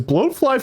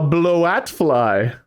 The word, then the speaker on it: bloatfly: called a bloat fly you said it so close the first time and then you changed the pronunciation A blat fly a blat fly a batfly I don't know if